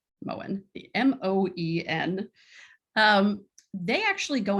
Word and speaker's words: Moen: But for example, the shower manufacturer Moen, that's how you pronounce it, right? Moen, the M-O-E-N.